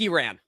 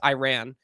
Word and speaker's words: Iran: say its name, because if you try and say it in American, because it is American, it's Iran. If you want to say it like correct, it's Iran. If you want to say it like kind of a middle ground, it's like Iran or Iran. Like I say Iran because that way I'm not pissing off either side, but I'm getting it wrong on both sides.